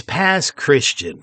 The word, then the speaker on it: Pass Christian: I guess you would say it's past Christian, folks. They just pronounce things weird around here.